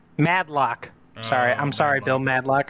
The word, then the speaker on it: Madlock: I have no idea Bill madok madlock sorry I'm sorry Bill madlock I'm sorry I butchered your name I'm sorry Bill mad sick